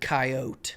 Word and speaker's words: Coyote: I pronounce it Coyote.